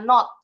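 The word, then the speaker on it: nought: Kalau British English bunyinya not. Not bunyinya kayak not not no tapi tulisannya bukan no. N O g ht not fic English f aja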